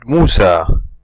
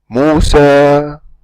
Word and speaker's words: Musa: When we pronounce this word, we don't say Musa, Musa. We don't just close the vocal cords, but we fade out the sound of the Alif, of Harful Alif, okay, until the sound disappears.